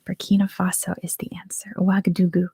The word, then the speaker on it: Ouagadougou: Ouagadougou is the capital. That's how it's said. Yeah, it was based on an old empire called Ouagadou. And just over time, it's become Ouagadougou.